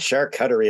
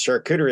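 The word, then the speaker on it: charcuterie: then someone's like no it's not shark Cuttery it's shark cery and I'm like isn't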